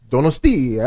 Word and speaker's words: Donostia: And if you are truly cool, you'll have this bonus track that's called Donostia. Is that how you pronounce it? Donostia. Donostia.